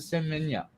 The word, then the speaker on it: Semenya: Yeah, Caster Semenya. Yeah, that's how you pronounce it.